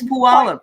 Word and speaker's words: Puyallup: But Yeah, no, it's Puyallup.